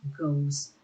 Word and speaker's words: goes: Hati-hati juga dengan cara membacanya, walaupun tulisannya mirip, tapi yang ini dibacanya seperti huruf A, does, sedangkan ini dibacanya goes.